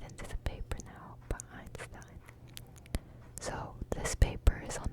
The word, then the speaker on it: Einstein: And I learned it's pronounced Einstein and not Einstein because my friend kept correcting me.